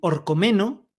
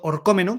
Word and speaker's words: Orcómeno: Podemos, si queréis, hacerlas en Orcomeno, o mejor dicho, Orcómeno, que tiene acento en la O, la primera población que